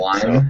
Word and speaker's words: Flyme: that's how you pronounce Okay. it. Yeah, I like Flyme that sounds way right. better.